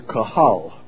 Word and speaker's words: Kahal: and continued on as the Kahal, that's the Hebrew word, spelled phonetically Q-E or Q-U-H-A-L, the Kahal of God, which is the congregation of the true believers.